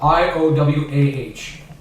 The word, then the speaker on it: Iowah: Yeah, more pronounced like the state of Iowa. How's it actually spelled? IOWAH. Iowa with a hick accent. Okay. With a hick accent. I thought Iowa was a hick And accent. H is silent.